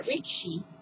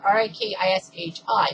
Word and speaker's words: rikishi: Alright, so first off, sumo is a competitive full-contact wrestling sport when a rikishi, it's spelled R-I-K-I-S-H-I, but they pronounce it rikishi, not rikishi, attempts to force another